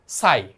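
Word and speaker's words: sigh: তারপর সোনাবান উড সাই, এটা উচ্চারণ কিন্তু সাই।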